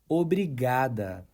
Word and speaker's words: obrigada: Again, obrigada.